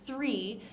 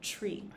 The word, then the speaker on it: three: a lot of times when we say the word three it comes out sounding exactly like tree right so that's another type